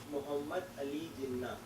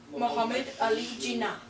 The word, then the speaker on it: Muhammad Ali Jinnah: Muhammad Ali Jinnah. Muhammad Ali Jinnah. That's how you pronounce it.